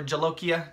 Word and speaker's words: jolokia: purple boot hello kia or jolokia depending on how you like to pronounce the hard j or the soft j it's either yogging or jogging um but yeah i